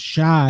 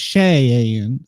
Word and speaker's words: Cheyenne: Be careful how you say her name. You'll get a comment. It's not Shy, it's Cheyenne.